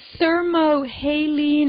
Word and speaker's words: thermohaline: So the thermohaline, am I saying it right, yes.